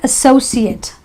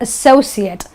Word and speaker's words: associate: I am a bank associate, because now this word becomes a noun, and therefore in that case I will pronounce it as an et or an it. Do not associate with Tim, because it's